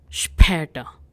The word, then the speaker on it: später: So for see you later, we say bis später. So we have the alphabet A and cute little dots. Now this is new alphabet. Don't pronounce it as A.